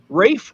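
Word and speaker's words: Ralph: It was going to be, and I heard this before, Rafe Fiennes. His name is spelled neither Rafe nor Fiennes.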